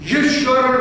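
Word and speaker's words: ישוע: 7만 명의 이집트 기독교인들이 유명한 동굴교회에 함께 모여서 10분간 예수님의 히브리어 발음인 예수와를 외치는 감동적인 장면입니다.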